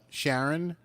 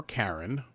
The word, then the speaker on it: Charon: stop uh because uh sharon charon or karen depending on how you want to pronounce it is the uh the